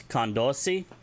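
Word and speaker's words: kandosii: If you want to say awesome or great, it's kandosi, spelled K-A-N-D-O-S-I-I, kandosi.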